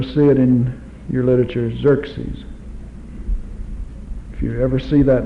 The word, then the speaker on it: Xerxes: about Old Testament history Xerxes not EX x x well you can't pronounce it with an X anyway it's Z Xerxes this is aeras another